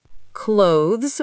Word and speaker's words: clothes: Clothes with the th sound.